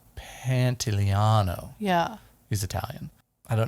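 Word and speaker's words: Pantoliano: pants and carrion moss what's his last name pantaliano panteliano yeah he's italian i don't know if we pronounced that right what panty panto liano yeah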